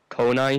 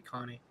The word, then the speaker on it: Connie: what's good he actually uh likes his name pronounced as rainier yeah it's actually right here is um konai here whatever here but it's actually connie and um are mean where's armen i'm sorry